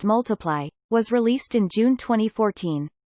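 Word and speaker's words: ×: Sheeran's second studio album, Times Pronounced Multiply, was released in June 2014.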